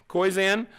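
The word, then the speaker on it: Koyczan: aside my favorite poet by far is shane koizan is that how you say his name yeah koizan in her free time julie anna enjoys anna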